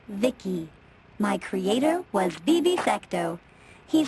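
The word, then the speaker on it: VICI: By the way, I'm V I C I, pronounced Vicki.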